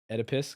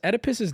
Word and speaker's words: Oedipus: Should have called it the Freud complex instead of Oedipus. Can I be honest? Oedipus's name is actually getting on my fucking nerves. Every time I look at it, I go, Oedipus, and then I think and I go, oh, it's pronounced Oedipus.